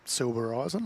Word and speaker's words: Silbereisen: Before the match yesterday, JT, I went up to KANE and asked him, how do you pronounce his surname? Yep. And he said, SILBEREISEN.